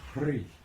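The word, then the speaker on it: Hrih: Now in Lama Govinda's teaching, the seed syllable for Amitabha is Hri, H-R-I-H. And you notice when you say Hri, that sound pulls energy up your spine.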